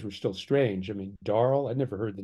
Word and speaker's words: Darl: still strange I mean darl I never heard the name darl I didn't know it was a a Corruption of Daryl you know phonetically spelled Daryl uh so I I